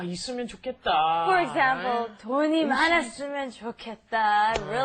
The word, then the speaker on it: 좋겠다: It's pronounced differently than how it's spelled. It's the pronunciation is 좋겠다.